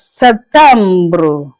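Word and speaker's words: septembre: In French, you pronounce it as September. September. It's like the the P is silenced a little bit.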